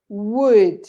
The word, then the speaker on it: would: but there's only actually it's only three letters would it's like w u d everything else is something that is not useful for the pronunciation of the word so would the same happens with